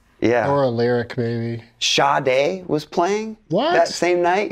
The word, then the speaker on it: Sade: Sade, why is S-A-D-E, why is that pronounced Sade? My name's David Spade, S-P-A-D-E, and you don't pronounce it Ned.